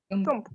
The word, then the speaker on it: câmp: Câmp.